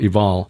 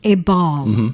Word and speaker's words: Ebal: Well, from there, we traveled on to Mount Ebal. You may pronounce it Mount Ebal, but we've been told it's actually a V sound.